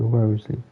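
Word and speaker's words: Wriothesley: En tout cas, Paimon l'appelle Risley. Voilà. Donc je vais le prononcer Risley.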